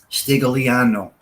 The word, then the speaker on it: Stigliano: Stigliano. The G is silent in Italian.